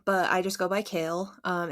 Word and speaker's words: Kayle: little kid um it's it's spelled like it's spelled k-a-y-l-e so a lot of people think it's Kayla or Kaylee for some reason so I just wanted to make sure everybody knows that I'm kale um I live in